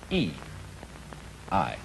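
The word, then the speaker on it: 義: not law but Justice this word is pronounced e i and Justice in this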